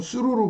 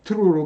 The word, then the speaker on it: through: 한국에선 수루로 배우죠. 그러나 트루로 발음하는 경우가 더 많습니다.